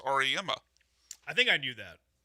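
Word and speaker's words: Auriemma: Oh, we even learned from Michael that it's pronounced Ariema.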